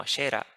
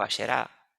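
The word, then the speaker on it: Asherah: esta diosa, conocida como Ashera, o Asherá, o Asherá, como se menciona originalmente en hebreo. Usted lo puede buscar en la Biblia cada vez que la Biblia menciona a Ashera o Asera, como lo pronuncia, por ejemplo, la Reina Valera.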